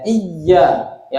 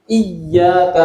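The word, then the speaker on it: إِيَّاكَ: naudu wa iaka Nain kalau kita membacanya di tasdid ya harfu ynya ya iya ya Enggak boleh kita baca iya ya diteruskan enggak boleh kita harus bertasdh harus di apa ditekan iyaka naudu wa iaka Nain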